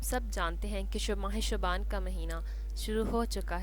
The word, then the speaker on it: شعبان: 8واں قمری مہینہ ہے جس کا تلفظ شعبان ہے اور ہمیشہ مذکر استعمال ہوتا ہے۔ شیخ عبد القادر جیلانی فرماتے ہیں لفظ شعبان میں 5 حروف ہیں: شین، عین، بے، الف، نون۔ ان میں سے ہر